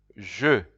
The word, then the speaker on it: je: You will see the I in French is pronounced je, but you'll see that je, you can also see it with you'll see the j with apostrophe.